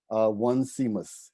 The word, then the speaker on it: Onesimus: His name is spelled Onesimus, One Seamus.